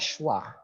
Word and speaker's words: schwa: E kebalik ini ada namanya sendiri dalam pronunciation symbol. Namanya adalah schwa.